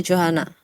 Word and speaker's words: Johana: Is it Johana or is it pronounced differently? Yeah, it's Johana.